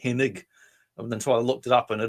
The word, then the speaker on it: Hennig: I think it's Hennig, but I always say Henning. It is IG. For years, I thought it was Henning because some of them